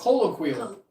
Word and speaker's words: colloquial: Colloquial is pronounced colloquial.